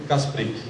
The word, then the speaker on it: Kasprik: Com os senhores agora, Kasprick. Obrigado.